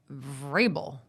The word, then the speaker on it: Vrabel: Vrabel.